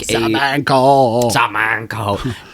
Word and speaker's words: Samanco: It's not salmon the fish. It's no, like, yeah. but it's pronounced similarly. Samanco. It is like Samanco.